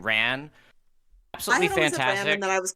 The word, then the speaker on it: Ran: Uh I don't know if it's Ran or Ron, how you say it. Ran.